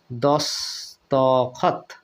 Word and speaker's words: দস্তখত: একটা শব্দ আছে বন্ধুরা দস্তখত এখানে দেখুন এই তয় কিন্তু হসন্ত হচ্ছে না কেন এখানে অ পর্যন্ত উচ্চারিত হচ্ছে দস্তখত এই ত তে কিন্তু আপনার অচ্চারিত হচ্ছে না তাই এখানে হসন্ত হবে আর যদি নাও দেওয়া হয় হসন্ত ওভাবে উচ্চারণ করতে হবে বন্ধুরা তাহলে বিদেশী শব্দে কি